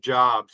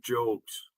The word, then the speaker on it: Job: that are in it it's not it's not pronounced jobs it's pronounced jobes book of jobes they have there's some funny names in the